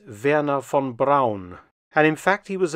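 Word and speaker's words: Wernher von Braun: pronunciation of his name most Americans call him Werner Von braw but his actual name in German is Vera Fon Brown and in fact he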